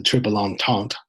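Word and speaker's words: Triple Entente: spelled and it's pronounced the trip along taunt where the British the French and the Russians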